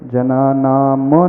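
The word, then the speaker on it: जनानाम्: भव जले पथता जनाम जना नाम में म हलंत है तो म का पूरा उच्चारण नहीं आना चाहिए जनाना म नहीं आना चाहिए जना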